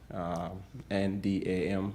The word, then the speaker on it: Ndam: to meet with yet, my name is Ndam, just like it sounds, G-I-F-T, N-D-A-M, that's the last name. The N in that name is silent, Ndam.